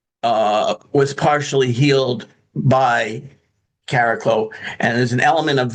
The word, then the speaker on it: Chariklo: We can say caraclo which is basically the actual pronunciation. It's like a cross between a ch and a k.